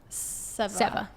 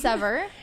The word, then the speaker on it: Seva: Seva. Yes. See your accent. I know, it sounds it's confusing. Like sever, but it's Seva.